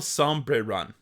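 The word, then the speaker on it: Sombrerón: elephant sounds like L with a soft e sound uh sbon sraon the Su sounds like sum okay so sum Bri like the e in bed oh bre some some bre and Ron is pronounced with emphasis on the Ron like Ron and wrong okay okay so SRA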